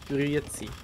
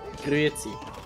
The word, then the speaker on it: Grüezi: Or the worst also in like Eastern Switzerland to say hello, they say Grüezi. Grüezi? Yeah. Grüezi.